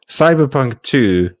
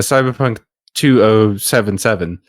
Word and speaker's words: Cyberpunk 2077: the hell is elder scrolls six uh recently cyberpunk 2 a cyberpunk 2077 as it's officially pronounced uh came out after being delayed for